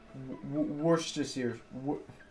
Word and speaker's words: Worcestershire: need help and um worcestershire sauce i think is somewhat close to how it's supposed to be pronounced worse just here worcestershire worcestershire sauce something like that stop drinking your monster